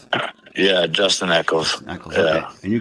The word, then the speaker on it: Eccles: And that was how do you pronounce his name? Eccles? Yeah, Justin Eccles.